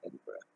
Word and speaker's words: Edinburgh: It's spelled Edinburgh, but it's Scottish, so we say it Edinburgh.